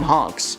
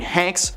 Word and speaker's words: Hanks: at Tom's expense by pronouncing his name Tam honks honks I I mean Hanks was in a attendance